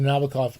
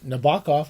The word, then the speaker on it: Nabokov: back I' been I always go back to Nabokov Nabbakov or we he's properly pronounced Nabokuki Nabbakov.